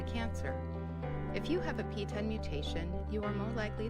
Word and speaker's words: PTEN: okay so that's the piece I've been saying PT an but apparently it's pronounced p10 which is way easier okay see what I'll